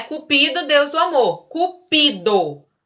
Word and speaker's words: cupido: cupido deus do amor cupido paroxítona é isso cupido a sílaba tônica é o pin mas existe a palavra